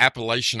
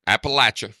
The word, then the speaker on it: Appalachia: and they'd be like I can't say it like that try just say throw an Apple at you there you throw an